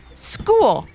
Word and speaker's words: school: School. S-C-H-O-O-L, said Maddie. That's a good one. Because it's a trick word, the CH makes a K sound, so a lot of people spell it S-K-O-O-L.